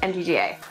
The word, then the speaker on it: MTGA: MTGA.